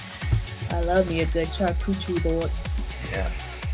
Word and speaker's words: charcuterie: I love me a good charcuterie board. Yeah. Charcuterie, just to let you know that I know how to say it right.